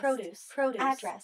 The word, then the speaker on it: produce: We often stress the first syllable of a two-syllable noun or adjective. Context, produce, address, perfect.